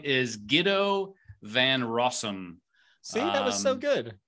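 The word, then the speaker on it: Guido van Rossum: i'm just gonna go for it this is g-u-i-d-o so and it's all that was not you didn't even try to pronounce it you spelled half of it how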